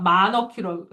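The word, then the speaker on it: monarchy: 네, 치라고 읽으면 때려줄 거예요. 네. 모나키예요, 모나키. 오케이? 네, 근데 좀 더 있어 보이고 싶으면 미국 발음으로 manage, manage.라고 해요. 마너키라고 해. 오케이? 자, 어쨌든 여기가 키야.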